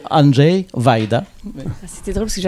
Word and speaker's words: Andrzej Wajda: Alors, je vais laisser plutôt Annie à le dire, mais en en principe c'est plus près de Andj Vaida.